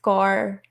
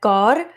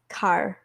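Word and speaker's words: Kaur: Yeah, I can totally relate to that because my last name it's pronounced Gaur, like Gaur, and I say it's Car.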